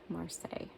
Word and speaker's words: Marseille: Marseille.